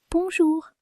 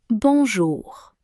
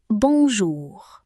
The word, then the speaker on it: bonjour: A little tip that you'll find useful when pronouncing French words is that you generally stress the last syllable of the word. So, you say bonjour.